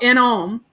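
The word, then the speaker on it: Inohm: she wrote a song called in ohm and and it's spelled i n o h m instead of o m right which is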